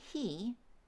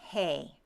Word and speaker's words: he: So instead of saying he, say hey. The E shifts to an A sound.